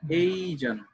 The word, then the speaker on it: Asian: We are Asian, উচ্চারণটা এশিয়ান না, Asian, Asian, Asian, we are Asian, মানে কি আমরা এশিয়াবাসী।